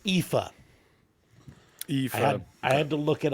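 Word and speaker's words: Aoife: Cusack Ah that's not how it's pronounced it's pronounced IFA I had to look it up uh IFA but it's spelled a-o-i-f-e so uh dumb American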